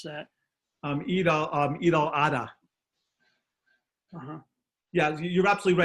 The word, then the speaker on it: Eid al-Adha: the other EID, I don't know how to pronounce that. Eid al-Adha.